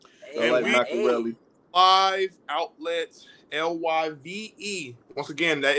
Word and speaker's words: LYVE: live outlets LYVE. Once again, that is spelled LYVE.